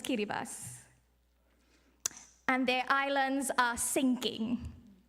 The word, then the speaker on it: Kiribati: met recently from kiribas you might see it spelled as Kiribati but the proper pronunciation is kiribas and their islands are